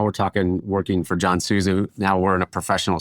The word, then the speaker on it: Souza: JVS and is it Chef Souza? Am I saying it right? Yeah, John Souza.